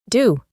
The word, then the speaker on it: do: La O se pronuncia más como una U. Do.